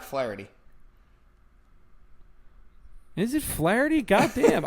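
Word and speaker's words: Flaherty: Oh, Flathery. Isn't that how you say his name? Uh, no. It's Jack Flareity.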